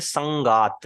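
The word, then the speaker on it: सङ्गात्: बाय द वे, जो letter ऊपर होता है वो पहले प्रोनाउंस होता है, और जो नीचे होता है वो बाद में प्रोनाउंस होता है।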